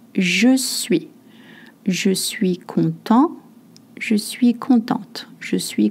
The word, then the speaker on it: content: Je suis content. Je suis contente. Je suis content if you're a man. Je suis contente if you are a woman. You don't pronounce the T if you're a man.